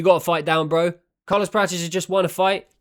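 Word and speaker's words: Carlos Prates: In the words of Ian Gary, Carlos Praches. Just have to pronounce it the way that the old Zillions do.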